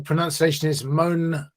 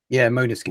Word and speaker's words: Måneskin: Actually, it says here the pronunciation is Måneskin. Yeah, Måneskin.